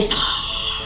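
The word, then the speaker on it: Starrr: I say Star because his name is spelled Star with triple R's.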